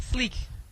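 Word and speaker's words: Sique: u e you sp not like Rick no I spell it different how you spell it again s IQ u e like Sleek yeah like Sleek SLE so you from Chicago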